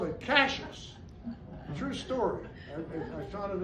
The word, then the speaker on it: Cashiers: And then finally, it was still pronounced Cashers. Spelling was corrected in 1875. Wow. Still pronounced Cashers. And guess what it is now? Valley's been dropped, but it's called Cashers. It only took me 4 years to learn how to say it.